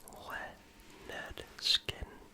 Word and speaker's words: Lynyrd Skynyrd: Leard skinn beginning with pronounced le skin released in 1973.